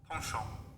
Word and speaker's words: penchant: Penchant. That's how you pronounce penchant. Partial.